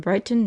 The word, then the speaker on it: Brighthelmston: "It is Lord Brighton, miss. You would never believe it, but we find the name is spelled Brighthelmston. He hasn't bought the 'ouse.